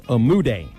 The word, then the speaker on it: Umude: It is Umude. And actually look that pronunciation up on the South Dakota website.